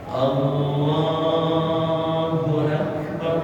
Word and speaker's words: Allahu Akbar: Nah, tapi karena ini rukun qauli, maka pengucapannya harus benar. Allahu Akbar. Bab ra-nya ra tafdhil, tebal, bar. Sama-sama. Allahu Akbar.